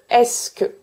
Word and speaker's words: est-ce que: I do not pronounce the e of "ce".